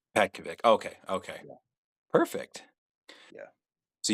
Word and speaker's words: Petkovic: It makes it so much easier so you don't have to pronounce the last name. But it's Pet- it's Petkovic. Petkovic.